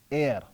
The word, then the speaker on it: ere: Now Moore uses another strange word, air. It is spelled E-R-E.